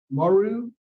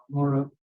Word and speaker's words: Morrow: in person, and Robin Maru, I'm sorry if I mispronounced Morrow. Okay. I see where it ought to be Morrow, but it's spelled a little differently on my sheet. So, okay, Morrow.